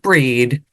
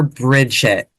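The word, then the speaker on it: Brigid: catch it Lea calls it breed whereas some of you other folks out there might call her Bridget we're all talking about the same person here same one both are correct it's just a pronunciation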